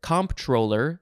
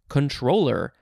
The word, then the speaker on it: comptroller: It's the word comptroller, comptroller, but it does look like one of the approved pronunciations is just controller, like your video game controller, but that is not at all how it's spelled.